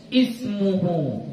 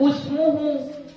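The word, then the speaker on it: اسْمُهُ: dilanjutkan bacaannya dari situ maka kita baca apa ismuhu Jangan dibaca usmuhu mentang-mentang huruf ketiganya baris damah lalu kita baca usmuhu salah ya kita Bacanya apa is ismuhu Kenapa karena ini adalah 10 Isim yang Hamzah wasalnya itu memang mesti berbaris kasrah Kenapa dia berbaris kasrah karena simai orang Arab bilangnya kayak gitu Kita cuman mendengar aja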